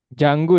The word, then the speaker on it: Django: D. Jangu. Django. Ya, Janggu ya dibacanya.